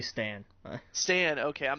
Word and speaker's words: Stan: I always say Stan. Stan. Okay, I'm not looking at how it's spelled or anything.